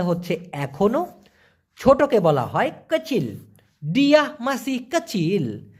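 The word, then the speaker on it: kecil: ভাষায় বলা হয় কচিল অনেকে বলে কিসিমিয়ালা কিসি মূলত হবে হচ্ছে কচিল কাচিল তো এই ছোট দিয়ে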